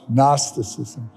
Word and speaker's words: Gnosticism: called gnosticism gnosticism is one of those words that begins with the G but the g is silent gnosticism and gnosticism can best